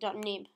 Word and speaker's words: xib: You actually pronounce it .nib, not .xib, but it's called a .xib.